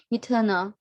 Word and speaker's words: eternal: at it internal eternal so the stress is on the second syllable eternal and the yeah that